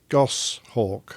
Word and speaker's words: goshawk: Uh and then the other thing is pronounce that name again. Go Osthawk. H Gosshawk.